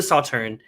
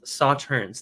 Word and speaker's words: Sauternes: up the information here i keep saying saw turns but i think it's just pronounced saw turn is that right well i think it's around sawturn based on the videos i watched today um so this